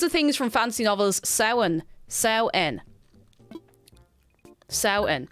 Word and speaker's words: Samhain: Samhain. Samhain. Samhain. How do you know the MH is supposed to be pronounced in Ireland?